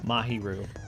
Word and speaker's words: Mahiru: Mahiru. Mahiru's sudden argument? I know that drives you crazy, but Does. Well, it drives me crazy that I can't remember. it's just the first syllable, usually. Mahiru.